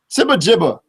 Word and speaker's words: SibaGiba: SibaGiba. There you go. The hard G.